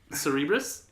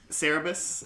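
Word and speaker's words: Cerberus: Cerebrus? I mean, close. It's people. It's now I can't say it right because you said Cerebrus. Cerebral. Cerebus.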